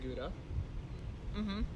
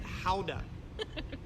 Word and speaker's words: Gouda: And actually, if you were there, you would not pronounce it Gouda, right? You would pronounce it Houda, Houda, like phonetically Howda.